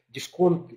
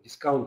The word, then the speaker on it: дискаунт: Давайте еще раз, друзья, с вами остановимся на моменте, что такое вообще дисконт и, ну, как дискаунт, если правильно говорить, и почему сегодня мы выбрали именно такую модель сегодня привлечения партнеров и инвесторов.